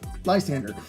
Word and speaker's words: Lysandre: that's what we have now lysandre or most people pronounce it lysander lysander obviously is for